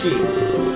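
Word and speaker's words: し: in Japanese in Japanese the number four can be pronounced she it's like the same as saying death oh she smiles and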